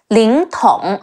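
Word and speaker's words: 凌统: Le Ying, Ling, Te Ong Tong, Ling Tong.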